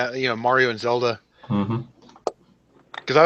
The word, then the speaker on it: Mario: Is it pronounced Mario or Mario? Freaking Canadians. Mario. It's Mario.